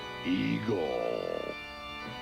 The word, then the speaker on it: Igor: Appalling's laboratory assistant, Igor. That rhymes with Seymour.